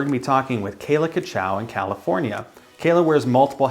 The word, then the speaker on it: Cutshaw: Cutshaw. What was that? It's Cutshaw.